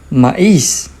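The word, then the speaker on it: maíz: It is a weak vowel, but it has the accent mark, so that is going to turn into a strong vowel and it is going to create its own syllable.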